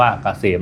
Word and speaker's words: เกษม: Sign นำ หน้า นะ K SCM อ่าน ว่า เกษม นะ ครับ สำหรับ ท่าน ที่